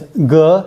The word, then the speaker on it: 戈: So this is called a dagger axe, pronounced Ge.